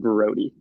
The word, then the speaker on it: Braude: so i'm used to it but it is pronounced brody although it's felt bro i appreciate you correcting